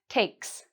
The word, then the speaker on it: takes: So, we're not going to add a "z" here; it sounds like an "s". "Takes", "he takes", "she takes". And that can be really challenging for students to pronounce, because you have a "k" and an "s" sound together. So, when we pronounce the "ks", our tongue is doing a lot of work.